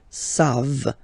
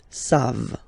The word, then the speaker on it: savent: E-N-T, you don't pronounce it, so you get the sound savent, v-v-v-v, savent, okay?